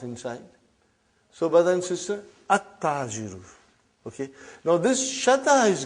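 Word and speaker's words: التَّاجِرُ: At-tajiru. You did not pronounce al. You did not pronounce lam. Okay, you did not pronounce. You skipped it. Okay. At-tajiru.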